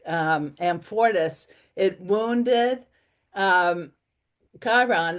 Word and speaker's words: Chiron: It wounded Chiron, or you say Chiron? Yeah, Chiron, that's how I pronounce right.